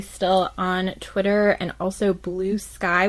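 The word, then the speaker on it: Bluesky: on Twitter and also Blue Sky, which I'm not going to lie in my head is pronounced Blue Ski, so I was really scared I was going to say that out loud.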